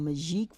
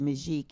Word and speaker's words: Magique: And I'm an inventor of a product called Magique 4.